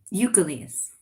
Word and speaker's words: Ukeles: sorry how do you say your last name eucalyst eucalyst okay thank you that's one question i